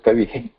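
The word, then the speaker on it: कविः: Kaviha. Kavihi. It is Kavihi. Kavihi. Kavihi. That E, after E, that Visarga has to follow that E also.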